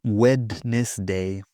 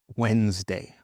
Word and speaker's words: Wednesday: In some words, we have a silent D. For example, Wednesday. We'll meet on Wednesday. Not wedness day. No, Wednesday.